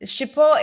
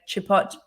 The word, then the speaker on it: Chipot: the name of it um he so one shippo is spelled c-h-i-p-o-t so it's a French name um